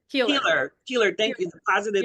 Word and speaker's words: Keiller: Keeler.